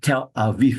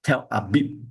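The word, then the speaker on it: Tel Aviv: b without so Aviv will be a police pronounce this as tell a v not tell a bit okay listen start uh syllable is a song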